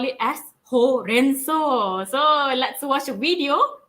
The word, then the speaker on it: horenso: Actually, the pronunciation of horenso is is similar as spinach, bayam lah kan in Malaysia.